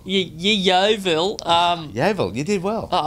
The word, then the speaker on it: Yeovil: FTBL, Harry Kewell is linked with a manager's position at Yeovil Town in League 2, the English League. That right, Yeovil. Yeah. Why did you not say Yeovil? Yeovil.